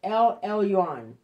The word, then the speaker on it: El Elyon: all right it's pronounced l e i mean l l u on i'm sorry el elyon okay melchizedek the king of